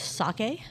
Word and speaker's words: sake: Caroline tried to one-up her boss with sake yeah.